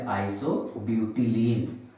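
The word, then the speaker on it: isobutylene: Example number 8 CH3 bond CH3 double bond CH2 ये रहेगा आइसोब्यूटाइलीन या फिर आइसोब्यूटिलीन। ओके प्रोनाउंसिएशन तो दो है, एक ब्यूटाइलीन भी पढ़ा जाता है इसको ब्यूटिलीन भी, लेकिन लिखना ऐसी ठीक है।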